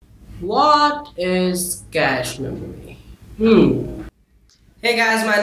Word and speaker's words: cache: It is called cache, C-A-C-H-E, not catch or cache. It's called cache memory. For those of you who are pronouncing it wrong.